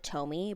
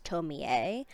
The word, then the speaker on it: Tomie: So for the rest of the review, I I to pronounce it Tomie, but the correct pronunciation is Tomie.